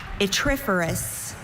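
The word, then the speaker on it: yttriferous: Your word is itriferous. May I have all the information? Itriferous. There are no alternate pronunciations.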